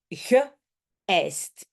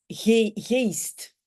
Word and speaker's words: geëist: Rappelez-vous, les petits points sont là. Pourquoi? Pour dire ah, on prononce en deux parties. Geëist et pas geest.